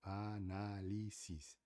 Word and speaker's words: análisis: Analisis é uma palavra com quatro sílabas, né? 1 2 3 4 analisis. E na regra em espanhol gramatical é fala que a terceira que porque é sempre de trás paraa frente, né?